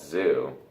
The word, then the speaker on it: ZHU: So I've been trying to talk to Ty about listening to this artist group called Zoo. I mean, really, it's just one producer. But you got to spell it. ZHU.